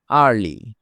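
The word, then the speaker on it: early: এবার আমরা শিখব ই সাইলেন্ট, মানে ই এর উচ্চারণ হবে না। যেমন, আর্লি।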